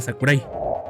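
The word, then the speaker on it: 櫻井: versión antigua del mismo, pero sin cambiar la pronunciación que siempre ha sido y será Sakurai.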